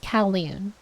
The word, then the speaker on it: Kowloon: And it's pronounced Kowloon.